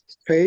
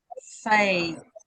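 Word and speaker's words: פ: it hasn't got a dot, so now it is a fay. Okay. With a dot, it's a pay. Without the dot, it's a fay.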